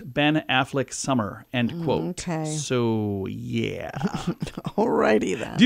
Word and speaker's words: Seuss: name was Dr Seuss a correct German pronunciation rhymes with voice so Dr so is how it should